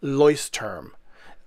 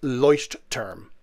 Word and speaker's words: Leuchtturm: all kinds of pronunciations for it but the pronunciation is actually leuce term if you have a thick german accent it's leucht term now what the name literally means is leuct